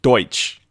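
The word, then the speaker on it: Deutch: Yeah, this one, Zoe Dutch or whatever her name is. Zoe Deutsch. Yeah. Deutsch. I believe that's how it's pronounced.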